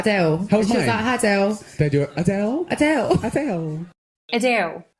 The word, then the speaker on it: Adele: and I was like Adele they do Adele Adele Adele Adele Adele so like a little kid like with a W kind of sound in there I mean wow no